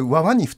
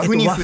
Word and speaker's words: WAFUNIF: 国連の WAFUNIF で、これワワニフと読むんですか、ワフニフです、ワフニフと